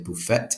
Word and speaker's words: buffet: And don't forget, we write tea, but we do not pronounce it. We don't say buffet.